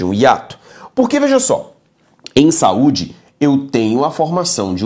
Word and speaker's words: saúde: regras lote comigo seguinte quando olhamos a palavra saúde veja aqui se eu for considerar o critério tonicidade saúde é uma palavra paroxítona e por que que ele é paroxítona porque a penúltima sílaba é a tônica quando lemos a palavra